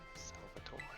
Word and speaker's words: Salvatore: Salvatore. He's French, but I pronounce his name like an Italian.